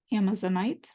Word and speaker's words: Amazonite: Our crystal energy is Amazonite, also sometimes pronounced Amazonite.